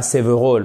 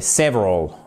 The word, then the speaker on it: several: Et voyez comme je dis pas several mais several. Alr, on n'oublie pas l'accentuation en anglais.